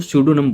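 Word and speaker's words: pseudonym: अब यहाँ पर पी साइलेंट है इसलिए इसको सूडोनम बोलेंगे।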